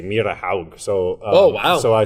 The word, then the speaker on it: Myrehaug: region my last name Meyer hog which is very Scandinavian so they give me they sort of i just say i pronounce my last name wrong it's actually mere to how so oh also I